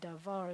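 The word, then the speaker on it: דבר: this word is devout we're going to have the accent on last syllable Deveaux so you're going to say devar is a worker thing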